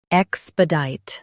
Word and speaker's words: expedite: Expedite. Both US and UK have the same pronunciation of this word. Stress deet. Keep sp soft and say ek clearly.